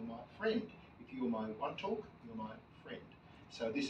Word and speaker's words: Wantok: I'm sure this is one talk place that's spelled w n t o k yes and W and